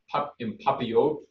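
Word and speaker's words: en papillote: do a salmon think the right pronunciation is in papillote which is in parchment so we're gonna use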